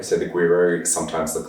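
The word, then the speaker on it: güiro: the world um the first ones the tricky pronunciation is guiro so i've got you to say that lots of times in class so the guiro so the guiro sometimes looks like looks like a fish it's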